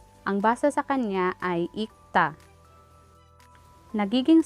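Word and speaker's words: 읽다: means to read, ang basa sa kanya ay ikta. Nagiging silent ang real character. Kasi sa rule na ito, kapag ang kasunod na syllable ay consonant character, magiging silent o walang tunog ang isa sa dalawang patchim character.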